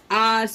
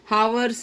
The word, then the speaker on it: hours: जैसे घंटे, 5 घंटे हुए, 6 घंटे हुए, 5 hours, 7 hours, आवर्स बोलते, हावर्स नहीं बोलते।